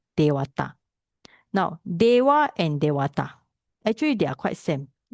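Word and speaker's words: devatā: But here is we put it as a long A because it means that it's a plural.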